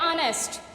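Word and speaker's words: honest: अब यहाँ देखें ये एच है, ठीक है, तो एच चूंकि साइलेंट है, साउंड क्या है? ऑनेस्ट, तो इसके साथ भी क्या आएगा?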